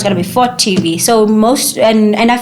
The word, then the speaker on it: FOTT TV: made it up I I'm like okay I want it to be f o t TV and um I want it called for TV because I don't want